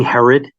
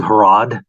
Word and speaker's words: Herod: like there's a where it's King Herod and he said King harod yeah um and what